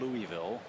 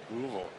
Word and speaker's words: Louisville: the Midwest in him He said it wasn't Louisville Louisville Said it right Louisville Louisville Here's Rizzo